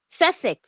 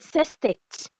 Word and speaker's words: sestet: Then six we have sestet. Some people call it sestet, but it's sestet. Sestet. Some people call it sestet, but it's sestet.